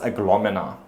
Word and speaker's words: Aglaonema: Apparently it's pronounced Aglomena, which I thought was really weird. It's Aglaonema in my books.